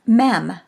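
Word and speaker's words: מם: Next is the Hebrew letter Mem, pronounced like our M.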